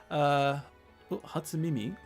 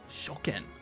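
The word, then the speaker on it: 初見: Should I say Hatsumimi? Hatsumi? Hatsumimi? ちょっと待って。読み方忘れちゃった。Hatsumi でしょ? Shoken.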